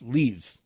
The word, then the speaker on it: Lviv: not in kiev and the other city lviv is actually pronounced leave i i thought it